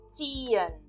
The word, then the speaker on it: ziehen: Nós usamos elas nas seguintes palavras: ziehen, ziehen. Percebam como eu estou pronunciando essa palavra. Ziehen. Eu não estou pronunciando o H aqui. Ziehen. Apenas o I.